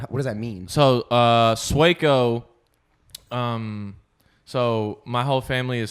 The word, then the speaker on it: Sueco: So it's pronounced Sueco, not Sueco. Well, no, but then after a while, like if you didn't speak Spanish, you just said Sueco.